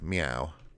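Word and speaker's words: Myau: And that's her trusty cat companion, Meow. But not spelt the way we spell it, M-Y-A-U.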